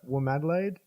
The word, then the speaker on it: WOMADelaide: And then you played at Womadelaide. Am I pronouncing that right?